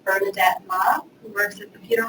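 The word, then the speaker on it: Mah: But I would say that I think it merits a discussion like Bernadette Ma, who works at the Peter Wall Institute, and Ma is spelled M-A-H.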